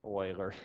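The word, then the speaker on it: Euler: was I oh scaling not oiling but Oiler almost broke the Elmo but Oilers our friend right so if you bring in an oil can I won't I'll be happy it's spelled a little different but I'll give you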